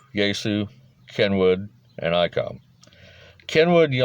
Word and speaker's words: Yaesu: then three japanese firms yaesu that's spelled y a e s u yeesu kenwood and icom kenwood